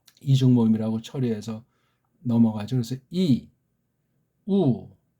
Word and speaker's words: 유: 이건 또 따로 하나의 소리에 각각 이게 그냥 이우라고 발음하면 돼요. 어디 시간이 너무나 허비됩니까? 힘이 허비됩니까? 말도 안 되죠. 물론 빨랑할 때 어떤 애들이 들을 때는 이게 유같이 들릴 수도 있겠지만 이자로 출발을 해야 돼요.